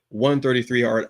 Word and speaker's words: 133art: now, okay, Robert said 133 art. I said 133 art. What is it? Because I you you say it right. It's it's each number. You got to stretch it out.